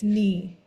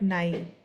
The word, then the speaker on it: nie: Wir It's knee, not nine.